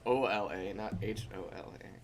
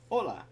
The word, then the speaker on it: hola: do you pronounce it hola well me and then I guess it's the same issue as with the T that the H is very soft it's all la like